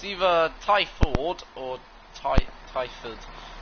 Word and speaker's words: Twyford: I think it's Twyford, or it's either Twyford or Twyford. I'm going to say it's Twyford because sometimes you'd not pronounce W, you know.